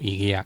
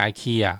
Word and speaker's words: IKEA: 個 IKEA 在台灣就念作 IKEA，因為他們官方就這樣子念。那美國人會念 IKEA 或什麼的，那個是